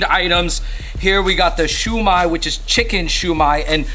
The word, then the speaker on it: shumai: chicken shumai and Shuma the way it's spelled is the Japanese way because otherwise if it was in Mandarin it'd be xiaomai or in Cantonese it'd be sumai so I think this is